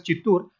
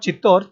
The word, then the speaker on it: Chittoor: is the wrong spelling the correct spelling is c-h-i Double T double o r it is pronounced as chitur it is not chittor chittor Gad is located